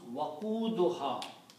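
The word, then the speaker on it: وقودها: So when you combine these, it will be pronounced waquduha.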